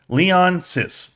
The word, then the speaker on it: Leonsis: Wizards owner Ted leonis I want to say his name is Lee Leon sis Leon says there you go Ted leonsis is one